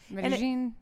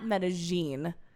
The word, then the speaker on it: Medellín: Medellín. Yeah. And he let us know that it is not Medellín. Because that is how a goddamn Argentinian would pronounce it. Yeah, Medellín.